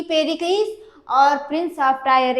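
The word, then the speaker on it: Pericles: पेरिकल्स और प्रिंस of tyre. कई लोग इसको पेरलीज़ भी पढ़ते हैं। तो अपना-अपना प्रोनाउंसिएशन है।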